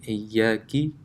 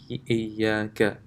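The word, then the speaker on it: إِيَّاكَ: So the example here is given Iyaki instead of Iyaka. In Surah Fatiha, it comes Iyaka na'budu wa Iyaka nasta'in. Iyaka. This is fairly straightforward. Instead of reciting the Fatha here, if you recite a kasra, Iyaki, then that's a mistake.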